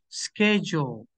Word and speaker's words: schedule: schle okay excellent SK pay attention to this pronunciation schedule SK schedule like this like this es SK